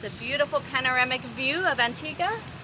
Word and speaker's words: Antigua: It's a beautiful panoramic view of Antigga. I learned that you say Antiga instead of Antigua, which would be the Spanish pronunciation.